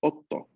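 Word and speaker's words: 夫: Hay que hacerle bastante énfasis en la pronunciación de la consonante doble, ¿no? Entonces, ¿por qué? Porque muchas palabras se van a confundir si es que no pronunciamos bien esta doble consonante.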